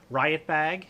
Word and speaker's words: RiutBag: to let you know this is riot bag and that's how it is pronounced r-i-u-t um they're out of